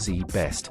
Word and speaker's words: ZZZZ Best: Barry Minkow started ZZZZ Best, pronounced Z Best, out of his parents garage in 1982.